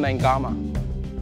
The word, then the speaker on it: Naiqama: Always pronouncing the Q. It's Kevin Naiqama.